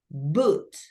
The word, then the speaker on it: boot: k k correct and finally we have boot right as you can see we have two o's double O but the pronunciation goes with an U boot u u i i